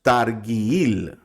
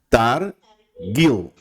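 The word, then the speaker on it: תרגיל: Entonces nosotros no decimos targuil, ¿verdad? Esta es la palabra que significa práctica. No decimos targuil. ¿Cómo decimos? Targil. Targil. La taf y la gimel suenan fuerte.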